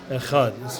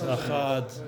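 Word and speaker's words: אחד: Yeshomim Achad, it's no longer Echad, it's Achad, like the Ches takes over within an Aleph, and it starts to sound like two syllables.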